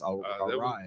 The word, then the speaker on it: Araya: Bill, you mispronounced it. It's Araya. That would have been you that said That that.